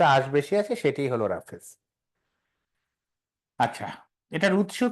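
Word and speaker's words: roughage: কেউ নিলেও পড়ানোর কথা হ্যা ওকে এবার লেখেন রাফেস রাফেস বানানটা একটু peculiar R ও ইউ জি এইচ এ জি ই রাফেস আচ্ছা রেফেস কে বলা হয় খাবারের তন্তুময় বা আশ যুক্ত অংশ আশযুক্ত অংশ তাহলে রাফেজ কি রাফেজ হলো সহজ ভাষায় আশ যুক্ত খাবার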